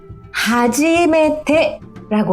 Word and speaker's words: はじめて: 하지메테라고 하는 거예요. 자 우선 여기만 한번 발음해 보세요.